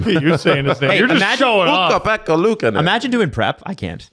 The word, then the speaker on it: Ukko-Pekka Luukkonen: Yeah, I can actually pronounce his name. You're saying his name. Hey, you're just showing off. Ukko-Pekka Luukkonen.